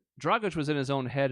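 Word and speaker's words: Dragić: all remember going tragic which isn't even how you say his name but still I mean it rhymed sort of it looked the same as far as the words go and if anything dragush was in his own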